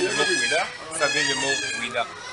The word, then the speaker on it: Ouidah: Le français qui ne sait pas bien prononcer le mot Ouida, ça vient du mot Ouida.